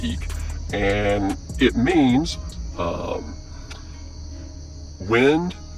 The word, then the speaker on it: Ik: called the eek glyph spelled ik pronounced eek and it means um